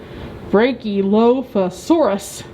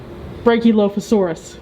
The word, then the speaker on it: Brachylophosaurus: to try to pronounce brachylophosaurus brachylophosaurus sure so that's like a breaking off a loaf of saurus yeah that's what we're